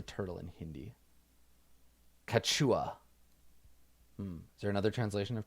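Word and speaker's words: कछुआ: Kachua. Is there another translation of turtle? How's this pronounced? Kachua.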